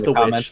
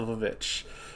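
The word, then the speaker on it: The VVitch: No, I know it's The Witch. Years from now. I just think it's funny to call it the Vivitch because that's how it's spelled.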